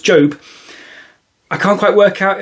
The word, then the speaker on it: Job: And this is quite an exciting day because this may be the first time I've pronounced something from the Old Testament correctly because Job is spelled Job. So, I'm feeling quite pleased with myself. I knew it was pronounced Job.